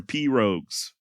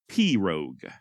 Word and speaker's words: pirogue: Please do not email me saying that I'm pronouncing pirogue incorrectly, all right? I'm saying it the way that Hank Williams Sr. says it in Jambalaya on the Bayou. And if it's good enough for old Hank, then by God, it's good enough for me.